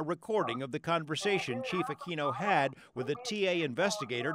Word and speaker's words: Aquino: Apparently his chief, Aquino is the way we pronounce it, basically did what we call a butt dial.